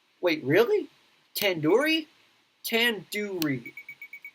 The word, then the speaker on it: tandoori: it wrong wait really tandoori tan do read the do isn't like a door it's like due to head are you